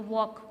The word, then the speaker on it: walk: इसमें L silent होता है, हम L का यूज़ नहीं करते बोलने में, हाँ, वॉक, वॉक बोलते हैं ना, तो चलना यानी कि चलने में।